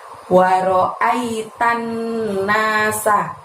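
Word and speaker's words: رأيت الناس: Waro'ai pendek semua. Kemudian tannya di situ masukkan ke nun tasydid di depannya. Jadi tannya ditekan dan ditahan 2 harokat diikuti bunyi huruf na. Nanya panjang 2 ya. Waro'aitan nasa. Seperti itu jadinya.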